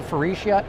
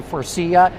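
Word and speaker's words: Faurecia: at for IA Interiors some say ficia some say Foria how do you say it elizab any way you want it's okay I technically do Foria Foria okay also joining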